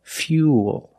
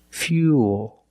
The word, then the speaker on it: fuel: the Y so it's U plus the dark L Fuel fuel not fuel remember when you link the o plus the dark L the mouth opens a little bit but it's not a real syllable it's like this fuel fuel this is fuel and fuel can be